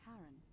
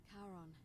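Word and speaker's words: Charon: you described it only your pronunciation is a little off the name you heard wasn't Karen it was c h a r o n as Inon the Fairman of the Dead Kon who in exchange for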